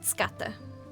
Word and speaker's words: skata: You might know it as skate, S-K-A-T-E, but they pronounce it skata.